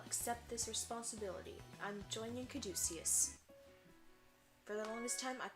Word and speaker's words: caduceus: this responsibility i'm joining caduceus for the longest time i thought it was catechist and that's how i've been pronouncing it for the longest time until i'd actually heard it like spoken i don't think in